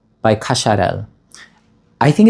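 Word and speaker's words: Cacharel: This is how it's actually pronounced. Anisay by Kasharel.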